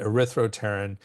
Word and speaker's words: erythropterin: So isoxanthopterin and erythropterin. There's a silent P there. I think it's silent, but if it's not, it's a thropterin. I'm pretty sure it's silent.